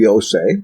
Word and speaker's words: Yose: It was marked Yose. We read in the Gospel of Matthew that there was a brother named Yose, which is like Jose, spelled the same way.